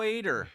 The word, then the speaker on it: Ader: Ader. Yes. I said it right. There you go. I was going to say Adder, and then I said, no, that's not Adder.